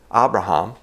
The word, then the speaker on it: Abraham: For instance, we say Abraham, and it's probably more correctly pronounced in Hebrew, Abraham.